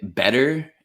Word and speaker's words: better: Brian I would say better and butter so okay as you can hear right off the bat the t is anything but a t when I teach this